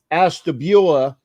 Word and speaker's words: Ashtabula: the correct way to say his hometown is Ashtabula, because I asked him about going to Michigan, and that was a great story the other night.